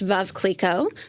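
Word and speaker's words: Veuve Clicquot: a couple points on this so it's actually pronounced V Cleo V Cleo was founded in 1772 by Madame Cleo her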